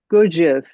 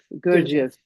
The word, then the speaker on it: Gurdjieff: Uh is it pronounced Gurdjieff? Gurdjieff. Gurdjieff.